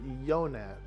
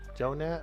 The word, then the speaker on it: Jonat: Is it Jonat, dude, or is it Yonat? I'm only asking because these, you can pronounce the J both ways, and I wasn't sure how you pronounced it. I would prefer to pronounce it the way you do. Jonat, word, bro.